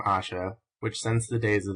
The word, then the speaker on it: Ayesha: add that the name Asha which since the days of the prophet Muhammad who had a wife so-called and perhaps before them has been common in the east should be pronounced Asha.